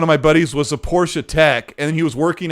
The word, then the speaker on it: Porsche: colt i'm loving the porsche 918 spider and forza horizon 5. it's pronounced porsche how many people say porsche in the chat is that like a